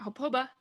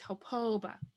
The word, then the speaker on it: hopoba: There's another way to write the O, which would be like this, hopoba. So it's lengthened. And this means to be hungry. So when you pronounce it, hopoba, he's hungry, she's hungry. So now we know that this one has to be lengthened when you pronounce it. So it's not hopoba, it's hopoba.